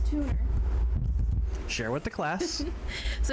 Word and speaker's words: Tuner: So there's a guy on the server, and his name is Tuner. But because like one of the guides was British, and he pronounced his name as Tuna.